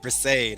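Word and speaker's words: Brissett: Brisset.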